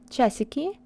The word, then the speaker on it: часики: When A is not stressed, it's mostly reduced and it sounds like it in sound E. Compare часики and часы.